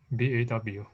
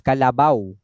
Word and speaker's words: kalabaw: BAW. No, it is not BAW. It's Kalabaw. You change the C to K.